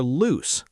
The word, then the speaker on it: loose: say, "My shoelaces are loose. I need to tie them again." Now, how do we pronounce loose? Great question. Loose is pronounced loose, with a soft s sound at the end.